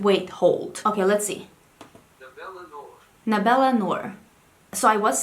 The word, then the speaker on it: Nabela Noor: Nabela Noor. Nabela Noor. So I was saying it correctly then, Nabela? Nabela Noor.